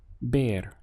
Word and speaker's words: ver: the verb to see bear just as before with Boya this V you can imagine it being written as a b bear okay because this V has a strong B sound in Spanish so bear means to